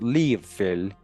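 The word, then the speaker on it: Lia Fáil: An ark or chest, and a stone called in Gaelic Lia Fail, pronounced Lia Fail, meaning stone of fate or hoary of destiny.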